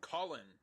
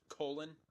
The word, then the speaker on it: Colin: Tropical Storm Colin. Which may or may have not been able to have been pronounced colon.